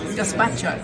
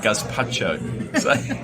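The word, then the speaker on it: gazpacho: this so just to correct myself it's not gacho it's G gaspacho gaspacho it's that's typical of me always pronouncing everything wrong so my gorgeous how much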